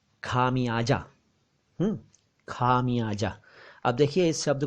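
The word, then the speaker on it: ख़मियाज़ा: और जल्दी में बोले तो भी खमियाजा ना बोलकर खमयाजा बोलना चाहिए।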